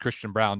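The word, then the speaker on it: Christian Braun: But when you're watching, Christian Brown, I believe it is pronounced Christian Brown, despite the spelling.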